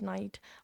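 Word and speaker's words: knight: आपने प्रोनाउंस किए होंगे जिसमें साइलेंट के होता है जैसे वर्ड नाइट और नी तो इससे ये पता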